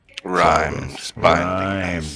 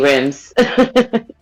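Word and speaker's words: rime: spell description okay sorry Rhymes rhyme rhyme that's it r-i-m-e oh it Rhymes oh I'm sorry I say rims Remy either so you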